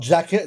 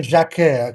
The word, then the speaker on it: Jacquet: So, yeah, it's not jacket like you wear a jacket when you're cold, right? It's Jeremy Jacquet, okay?